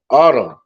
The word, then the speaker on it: Atum: And then you got autumn, like it's like Adam, but it's spelled with an ATUM.